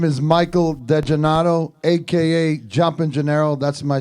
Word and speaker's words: DeGennaro: DeGennaro. DeGennaro. Yes, sir. So DeGennaro, not DiGennaro. DeGennaro. DeGennaro. DeGennaro. D-E. Saying it right. So like San Gennaro, DeGennaro.